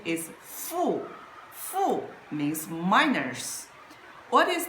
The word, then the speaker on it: 负: And the pronunciation is fu.